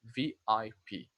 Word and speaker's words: VIP: You say letter by letter. You don't say like we say in Portuguese as a word that in Portuguese we would say VP, but in English now we say VIP.